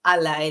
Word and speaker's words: ALLi: in 2015 so Ali so it's a l l i pronounce as Ally like your friend it mission is to